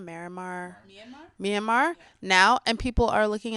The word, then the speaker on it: Myanmar: they have that conflict in let me not mispronounce this manimar miramar myanmar myanmar now and people are looking at the states